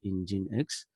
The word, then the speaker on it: nginx: you some idea about Ingenix so enjoy hexa is the server so we can pronounce like in gene X so that is one